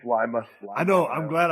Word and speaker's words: Lima: Hey, when I was talking about Lima, Ohio, was I pronouncing that wrong? It's It's Lima, Steve.